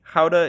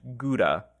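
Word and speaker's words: Gouda: in Southwest Holland now in English Howa is usually pronounced guda and in America the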